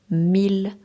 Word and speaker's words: mille: Exception, malgré la présence de I2L, certains mots se prononcent avec le L simple, comme il. Exemple à retenir, ville, mille, million, tranquille.